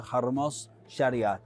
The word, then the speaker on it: Hormoz Shariat: Hormoz Shariat. That's right. You did right. I do my homework on pronunciations.